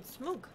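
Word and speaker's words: Smough: You mean Smoog. I told you, H's are silent and OU is pronounced as OO.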